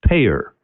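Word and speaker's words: PAEER: a model and the acronym for the model is pae eer five letters pronounced payer now hopefully you're getting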